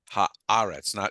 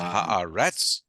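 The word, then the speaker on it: הָאָרֶץ: And it actually symbolizes that the accent will be on the haaretz. It's not haaretz, it's not haaretz, but it's haaretz.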